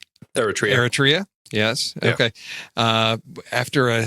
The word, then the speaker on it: Eritrea: was adopted from war torn oh I can't pronounce that word error territory Eritrea yes okay uh after a high school teacher